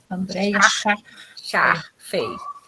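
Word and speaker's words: Andréia Schash Fey: Andréia Chachfei.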